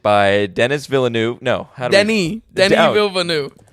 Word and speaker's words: Villeneuve: No, Denis Villeneuve. Villeneuve. Oh, wow. We've learned, folks. Here we go. 6 different ways to pronounce it, but we think we nailed on the proper one.